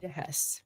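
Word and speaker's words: Heiss: Hess. There we go. Hess spelled H E I S S but it's pronounced that way.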